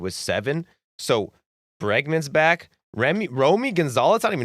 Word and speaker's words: Romy: Remy Romy Gonzalez. I don't even know how to say it, Mitch. Yo, Romy. Romy.